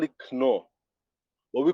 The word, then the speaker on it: Knorr: The same thing with a brand called um, Knorr. Knorr is a seasoning cube. It's spelled Knor. In Nigeria, we call it Knorr cube. We drop the K because combining K and N is pretty weird.